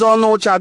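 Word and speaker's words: Onicha: They call them Onocha. The right pronunciation is Onocha, the one who lives apart, the one who is staying apart from his lineage and kinsmen.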